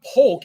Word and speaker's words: Polk: Like not Polk, like Polk. Like I'm trying to pronounce like yoke. So it's yoke. Like it's Polk, like yoke.